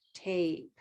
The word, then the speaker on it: tape: tape tape yeah so i think you're pronouncing it with a red sound but you need to use a gray sound tape beautifully yeah and you